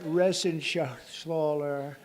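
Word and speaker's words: Reschenthaler: Shala you know that resen Schaller he's uh that's actually the way you pronounce it you know nobody else gets it right I got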